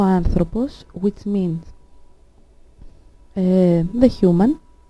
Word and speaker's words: άνθρωπος: So, as we can see, ο άνθρωπος has an accent on the first syllable, but ο γιατρός has an accent on the last syllable.